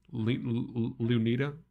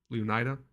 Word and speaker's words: Leonida: this the um fictional state that isn't um Leonita Leonida that's how you pronounce it.